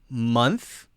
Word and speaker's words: month: so this one is month month now notice that my tongue is between my teeth there month month month now